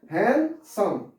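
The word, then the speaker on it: handsome: इसमें लिखा जो है हैंडसम जाता है, लेकिन डी को हम लोग साइलेंट करके पढ़ते हैं। क्या पढ़ते हैं, हैंडसम।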